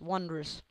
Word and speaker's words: wondrous: beautiful that is wondrous wondrous not wondrous wondrous wondrous it's two syllables I can even use